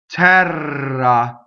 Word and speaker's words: terra: Terra, double R is definitely rolled. Open E on the stress.